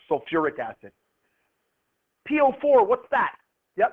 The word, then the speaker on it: sulfuric: Now, when we had sulfur the last one, you had to add an extra syllable. That's true here as well. What is this one going to be called? Yeah, sulfuric acid. Good. Sulfuric acid. If you just followed the rule that you'd think it would be sulf, but it's not.